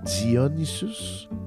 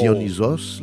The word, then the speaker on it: Dionysos: me ressemble bien gros qui s'appelle Dionysus mais ça se prononce Dionysos mais c'est Dion Isus